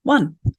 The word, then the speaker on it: one: that's not true either it's that historically that e used to make that O say its name but it doesn't anymore we I pronounce that word one so what is the